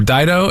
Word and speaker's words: Dido: two siblings yes when my name is because it rhymes with my brother's name is he older or younger he's older he's older Dido and Rolo what are your parents